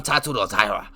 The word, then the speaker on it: Tatsuro Taira: I am heavy on Tatsuro Taira. Okay? As you could tell, I say his name correctly. I pronunciate it correctly.